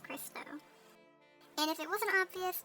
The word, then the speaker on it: Crysto: It rhymes with Cristo.